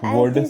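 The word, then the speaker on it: would: this paper S this वड वर्ड वर्ल्ड नहीं बाबू वुड होता है वड डब्लू ओ यू एल डी क्या होता है वुड होता है वल्ड नहीं होता एल साइलेंट हो जाता है ठीक है आगे पढ़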